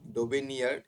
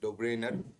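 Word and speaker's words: Döbereiner: আছে ডোব্রেনার ঠিক আছে এখানে দেওয়া আছে ডোবেনি ডোবেনিয়ার একচুয়ালি উচ্চারণটা হবে ডোব্রেনার ডোব্রেনার নিউল্যান্ড মোজলে অপশন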